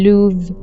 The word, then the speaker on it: লুভ: এবং আবারো একটা ফ্রেঞ্চ শব্দ হচ্ছে লুভ।